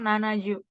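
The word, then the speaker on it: 七: 4750 60 itu rokuju Nah untuk 7 pakainya nama bukan siji walaupun sebenarnya bisa cuman lebih umum menggunakan Nana gitu nah 80 itu haci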